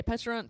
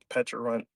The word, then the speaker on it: Pecharunt: Do you say Pecharunt, Pecharunt, I say Pecharunt, Petch. Petch? I used to say Peck, but I just say Petch. Mm. I don't know if there's like maybe an anime where Pecharunt is there, so I